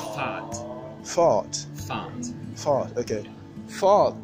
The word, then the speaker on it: fart: sure speed uh yeah so speed in Danish is pronounced fart fart fart fart okay